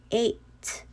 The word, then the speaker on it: eight: okay and another is the combination of e and i so the sound is a a okay that's why it is eight eight with the silent g okay just read it